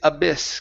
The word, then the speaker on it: abyss: Next up is abyss. Give me a short I sound instead of abyss. Abyss. Abyss.